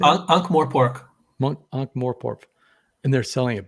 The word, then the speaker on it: Ankh-Morpork: Ankh-Morph? Is that how you say it? Ankh-Morpork.